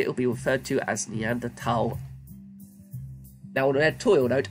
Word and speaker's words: Neanderthal: preference a preference and there's no H sound when it's pronounced in French and German it's something I picked